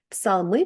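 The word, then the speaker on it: psalm: от англійці американці Ні тому в цих словах вони просто ігнорують літеру пі і її не читають наприклад псалми псалом не читається псалм читається сам першу літеру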